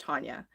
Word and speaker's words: Tanya: It's spelt Tanya, but because I'm from the States in Albuquerque, it's actually pronounced Tanya. But yet everybody here in Canada always says Tanya, and it just like drives me insane.